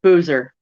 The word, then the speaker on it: Boozer: smokes nothing ah chris his last name rhymes with loser holy smokes um holy smokes boozer there you go there